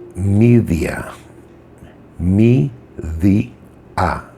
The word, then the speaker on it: Medea: most famous witches medea in greek it's actually pronounced media me the a media uh in english translations